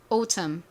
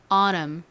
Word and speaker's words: autumn: 텀, T가 왔죠. 소리는 모음 U였죠. 그리고 미음 받침은 M, 말씀드렸던 떨거지는 바로 N이었습니다. 가을은 요렇게 쓰죠. 자, 눈으로 한 번 더 잘 살펴보시고요. 발음 미국식, 영국식 둘 다 해볼게요. 영국식 갈게요. autumn. 미국식으로 이제 가볼까요? T를 리을처럼 샥 굴려가지고 발음 한번 해보겠습니다. autumn. 좀 어려울 수 있어서 한 번 더 해볼게요. autumn. 좋습니다. 자, 다음 단어로 넘어가 볼게요.